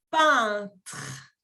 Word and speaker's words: peintre: ou peintre. Peintre. Peintre. Esa letra E-I-N siempre se va a pronunciar como la 1 en français.